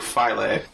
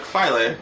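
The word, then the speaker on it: Philae: isn't it like now I'm pretty sure it's more Latin like file a pH pH o AE yeah like file a okay I'm pretty sure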